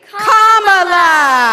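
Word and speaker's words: Kamala: do you pronounce it first say comma like a common sentence then he say la like la la la la la put it together and it's 1 2 three comma all right so let's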